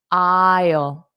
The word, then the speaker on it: aisle: And notice the pronunciation. Don't look at the spelling because the spelling and pronunciation are different. So close your eyes and listen to the pronunciation. Isle isle. So Ile isle isle.